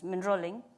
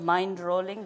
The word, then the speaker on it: Mindrolling: One was minrolling and the other was something and minrolling was read out as mindrolling because so they follow the lineage of mind rolling because it's spelled m